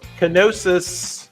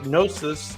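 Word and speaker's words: Knossos: history this is the Palace of kosis or nosis depending on how you pronounce that kosis there you go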